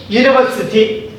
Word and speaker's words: university: okay and I'll ago now in this word University Eureka uniform okay makes you makes this you